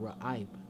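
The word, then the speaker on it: רעב: So a Ra, you'll pronounce that, and Aib. So Raiab. Alright, for that word there being hungry and thirsty.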